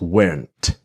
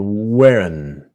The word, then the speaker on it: weren't: Now, with just like was not to wasn't, were not is weren't. But of course, the T is silent. Now, this is the N sound, the strong N, the weren't.